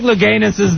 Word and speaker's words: Louganis: What are the chances that Greg Louganis' name would rhyme with anus?